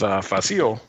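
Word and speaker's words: Fasil: later and the seat the the fight with faasil that's how you say his name by the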